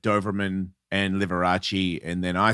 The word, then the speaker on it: Liberace: I call him Liverace You do. because I didn't go to school yeah. Is it pronounced Right. Liberace? No. It's Liberace.